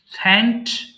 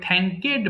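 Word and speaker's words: thanked: থ্যাঙ্ক, ধন্যবাদ দেওয়া, থ্যাঙ্ক, থ্যাঙ্কড, থ্যাঙ্কড। বাট এটা ভুল করে আমরা অনেক সময় থ্যাঙ্কেড বলে ফেলি, এর উচ্চারণ কিন্তু থ্যাঙ্কেড হবে না, থ্যাঙ্কড হবে। বেয়ার, বহন করা, বেয়ার, বোর, বোর্ন।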